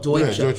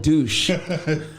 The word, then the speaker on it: Deutsche: Oh, Deutsche. Yeah. Right. I used to call it douche.